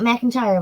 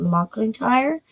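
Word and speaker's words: McIntire: McIntyre, not McIntyre, but McIntyre. Um, it was originally built for the sea captain Joshua Ward.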